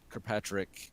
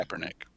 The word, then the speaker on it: Kaepernick: So then it's a picture of Kirkpatrick, that is how you pronounce his name. Kaepernick. Kaepernick, thank you.